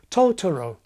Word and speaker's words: Totoro: The first time, it's the initial syllable that's put on beat number one, Totoro. The second time, it's the middle syllable that's associated with beat number one, Totoro.